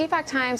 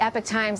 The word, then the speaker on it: Epoch Times: So the Epoch Times or the Epoch Times, it's not clear how you say that because there are lots of different pronunciations and employees say it both ways.